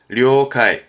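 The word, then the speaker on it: 領海: 료카이, 료카이. 하늘 공자죠. 영공.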